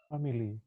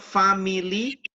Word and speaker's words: family: family family family repeat family it's not family you have only two family family okay yes family